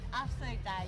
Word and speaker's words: Afsluitdijk: She has to pronounce it? She has. Yeah. Well, how do you say it? Afsluitdijk.